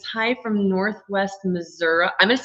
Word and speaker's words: Missouri: Daisy says, hi from Northwest Missouri.